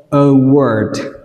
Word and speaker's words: award: Từ này đọc A đọc là ơ, và từ thứ hai AR đọc là O. Các bạn đọc lại theo tôi, award, award, award.